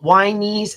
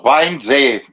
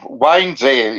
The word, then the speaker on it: Wannsee: At the actual Wanese. How do I pronounce it? I'm sorry. Wannsee. No, Wannsee. It's like wine. Gotcha. It's like wine. Wannsee. It's a seer.